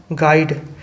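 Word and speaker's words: guide: Which letter is silent in the word गाइड, गाइड में कौन सा वर्ड साइलेंट है, क्या गा में गा आ रहा है, ई आ रहा है, डा आ रहा है, बिल्कुल। यू आ रहा है क्या, नहीं आ रहा है, बिल्कुल option A इज the correct answer.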